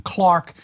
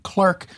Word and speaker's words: clerk: So that, for example, you have the British pronunciation Clark and the American pronunciation clerk.